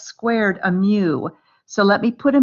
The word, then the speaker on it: mu: symbol means it's pronounced mu like a a cow with a speech impediment mu like that so it's pronounced mu long u there that's the greek letter